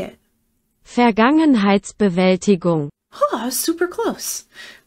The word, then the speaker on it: Vergangenheitsbewältigung: Vergangenheitsbewältigung.